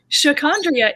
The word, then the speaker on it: Sha'Condria: And as much as it might not seem, given that my name is pronounced exactly the way it's spelled, people have mispronounced my name since I was little, like elementary school.